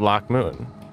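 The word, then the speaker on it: Loc Muinne: His later support for the witch hunters and their zealous cause, and finally, there is the massacre at Loch Moon. That's how you pronounce that.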